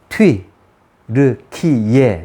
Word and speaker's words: 튀르키예: 이렇게 보다는 이렇게 먼저 앞에 나오고 그러나 정확한 발음은 트윗 르 키예 이렇게 들어요 아시겠죠 자 제가 이렇게 트루키의 지루키의